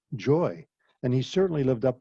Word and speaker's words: Xhoi: His first name is spelled Xhoi and pronounced joy, and he certainly lived